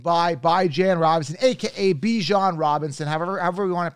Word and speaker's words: Bijan: this signed helmet by by Jan Robinson AKA Bijan Robinson however we want to pronounce it the right way is by Jan if you want to buy Jan signed helmet